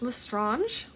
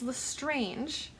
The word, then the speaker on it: Lestrange: of a sudden it's Lestrange. Bellatrix Lestrange, and it's I believe, a French originating name, so Lestrange, and they made a big point in this movie to pronounce it specifically Lestrange based off of how